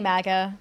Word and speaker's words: MAGA: of the idea behind Maga month is because first of all it it's disturbing me Maga you keep saying Maga is it pronounced mag it's definitely Maga okay fine magga month